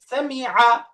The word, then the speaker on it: سمع: ফাতহা আ এখন سمع সামিআ শেষের আইনটা প্রকাশ পাবে سمع সামিআ سمع সামিআ